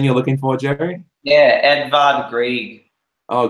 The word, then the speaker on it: Edvard Grieg: Oh, Grieg, yeah. Yeah, probably pronouncing his name wrong because they're all complicated back then. But yeah, Edvard Grieg is what. You got it right, man. That's how you pronounce it.